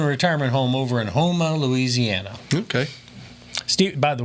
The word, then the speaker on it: Houma: retirement home over in Houma Louisiana ok Steve by the way you can tell if you're not from there because you call Yuma well it's Houma so it's like Houston